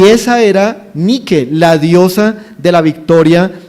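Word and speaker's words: Νίκη: empresa de zapatillas no Nike o como la pronuncian eh También Los Americanos Nike pero en griego es nique esa es la palabra original y para los griegos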